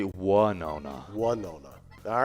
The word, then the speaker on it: Winona: no oh yeah yeah it's not win no no it's one yeah a lot of people say why nona why no no yeah then then there's a lot of people that now mispronounce it because there's a singer called winona ryder yes and say one no no yes but it's actually one oh no one no no all